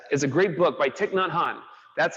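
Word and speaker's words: Thích Nhất Hạnh: Pieces Every Step is a great book by Thich Nhat Hanh.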